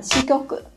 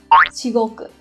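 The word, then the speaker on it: 至極: thể sẽ đọc là shikoku. Thế nhưng cách đọc đúng của nó không phải là kyoku, mà trong trường hợp này nó sẽ đọc là shigoku.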